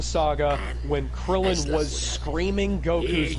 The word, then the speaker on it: Goku: I was only Okay, Kaiser pronounces Goku's name something like Goku. Emphasizing the U. Yeah, and except the thing is, it's not really pronounced with enough stress on the O to make it correct to the Japanese pronunciation.